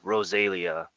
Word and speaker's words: Rosalia: it is our bye Rosalia excuse me and how I pronounce that that's how the band pronounces it so and Rosalia